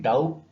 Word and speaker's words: doubt: DOUBT डाउट, डाउट नहीं होता है, डाउट होता है। Be again here is, इट is silent.